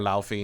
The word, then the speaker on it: Laufey: However, it turns out that Faye was actually a giant called Luffy. I think I'm pronouncing that correctly. Luffy or Laufey, depending on who you ask.